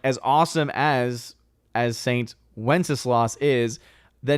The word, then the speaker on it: Wenceslas: All right, here is the pronunciation of the saint's name. It's Wenceslas.